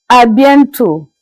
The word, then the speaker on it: à bientôt: As you can see on the board, it is pronounced in French as à bientôt.